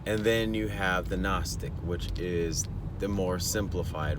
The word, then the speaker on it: Gnostic: But Gnostic is spelled with a G. Gnostic.